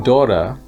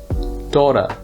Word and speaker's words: daughter: like an f meanwhile in daughter the vowel is pronounced like a long o and the gh is silent laughter daughter the next group contains